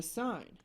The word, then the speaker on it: sine: I'll just say the sine of five degrees is equal to point zero eight seven and we pronounce it sign but we spell it